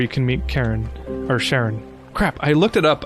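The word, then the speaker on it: Charon: Pronunciation. Oh, Karen. Okay, so it is Karen.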